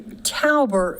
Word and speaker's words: Tauber: And so for everybody, Tauber is the correct pronunciation of this bill.